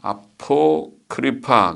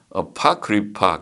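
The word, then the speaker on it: Apocrypha: 외경, 아포크리파, 그래서 아포크리파라는 책이 있네. 어파크리파 그렇게 발음을 하네.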